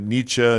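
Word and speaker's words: Nietzsche: We'll get to uh Ni- Ni- sha Ni- sha. Yeah, we found out that Ni- sha Ni- sha all these people that Jordan all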